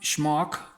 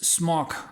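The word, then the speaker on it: Smock: pronounce that right cuz it's not schok it's smok I believe so and plenty of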